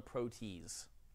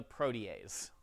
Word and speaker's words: protease: what's called a protease please do not call it a protees it's spelled that way I know it's a protease so you cut the